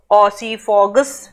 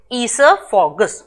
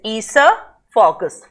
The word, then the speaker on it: esophagus: Many of you must be reading it oesophagus. No, the correct pronunciation of this word, please listen very carefully.